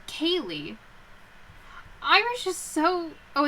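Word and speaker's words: ceilidh: over here hold on oh it's like kaylee irish is so oh it's scotland actually scottish why do they do this hop on let me see sounds like kaylee yeah hold on we're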